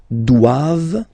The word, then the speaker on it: doivent: All right, and then the last one, ils doivent. So same thing, classic ending for the plural form, ent here, okay, but then you don't pronounce it.